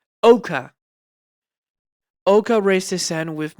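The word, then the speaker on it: Ouka: The two members said they can almost keep up with Ocker. Ocker, not Otter. Ok- I can't pronounce his name fucking correctly. Oka.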